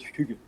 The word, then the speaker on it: hygge: I usually call it hygge.